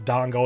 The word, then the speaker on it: dango: And yes, I know it's dango as well. I mispronounced it there.